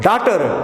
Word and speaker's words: daughter: In the word daughter, DAUGHTR, GH is silent.